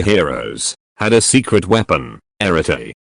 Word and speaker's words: arete: This ancient Greek word, pronounced arete, holds a depth of meaning that transcends simple translation.